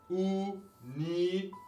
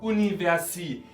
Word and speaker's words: Universität: y así también con universität, que viene de université en francés y por eso pronunciamos la última sílaba.